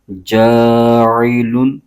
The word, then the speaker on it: جاعل: بغیر کھینچے پڑھیں گے۔ اس کے ہجے یوں کریں گے، جیم الف زبر جا، عین زیر عی، جاعی، لام دو پیش لون، جاعل، فا لام زیر فل، جاعلون فل، حمزہ را زبر اور، جاعلون فی الارض، ضاد زیر دی، جاعلون